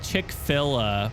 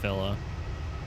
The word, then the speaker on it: Chick-fil-A: It's like Chick-fil-A, but it's not pronounced Filla.